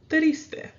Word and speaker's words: triste: So we have triste. Triste. It's a two-syllable word, so triste, 1 and 2.